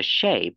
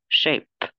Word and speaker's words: shape: nặng nha, sờ nặng, chắc chắn là nhiều người nhìn thấy sờ này nó đọc sờ nhẹ, 80% đọc sờ nặng, shape, và chữ P ra không đọc là shape nhá, mà đọc shape, bật chữ P ra, shape, và đối với đây